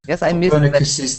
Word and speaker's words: Copernicus's: line on the screen you didn't for me catch the possessive can you try and just say that sentence which starts after attacked ah copernicus's theory yes yes copernicus's Theory people often miss those that's why I wanted